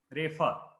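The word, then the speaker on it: रेफ: of the question was whether the fakara we pronounce is at fa or fa. So it is, yeah, it is with the sound, fa. The air should come out. It is fa. Refa.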